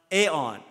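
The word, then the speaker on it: ἐάν: word in the beginning it's pronounced aeon and if you connect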